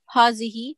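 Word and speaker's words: هٰذِهِ: a feminine of haza it is pronounced hazihi but the alif is omitted in writing this is a boy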